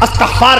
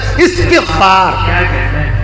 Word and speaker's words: استغفار: ترجمہ یہ جو ہم لوگ کہتے ہیں استغفار کرنا چاہیے بھائی، استغفار نہیں، صحیح تلفظ ہے استغفار.